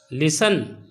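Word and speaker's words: listen: लिसन T silent है।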